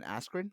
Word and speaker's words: Askren: I think I'm gonna mispronounce his last name, but it's Ben Askren, correct? Yeah, Ben Askren.